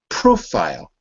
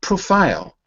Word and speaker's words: profile: I want you to repeat it profile profile not profile profile profile right if you say profile you're saying it as an action like like profile do